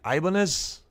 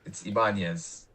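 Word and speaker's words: Ibáñez: Ibanez. Not quite. Ibanez. I mean, that's that. I allow people to do that because it's easier. But no, it's Ibanez.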